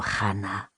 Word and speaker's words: Hana: I'll be honest with you, Hana. She pronounced it with a hard h.